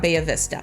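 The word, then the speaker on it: Bahia Vista: you to check out bayavista now i did not take spanish in high school i took german but bayvista is probably really not the proper way to say the street name but that's how we say it as a local so if you say it much differently we know that you don't live here so so it's called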